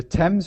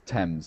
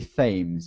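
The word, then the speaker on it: Thames: differently now because um t h is usually a th sound but here and an a is an R sound so it should be themes yeah but it's we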